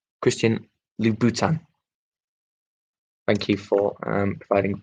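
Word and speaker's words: Christian Louboutin: lacquered souls christian and i've been given the penuch the pronunciation and lou bhutan christian lou bhutan thank you for providing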